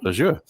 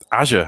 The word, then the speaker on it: Azure: i i immediately pronounced it the way you pronounce your name i thought oh this is called azure um and then i heard satya nadella refer to it and and he said azure and i thought okay i've got that wrong